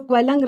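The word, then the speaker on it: Quellung: So Quelling rhymes with swelling.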